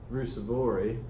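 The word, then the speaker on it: Ruusuvuori: But look, Dzuma beat Rusevori 2-0.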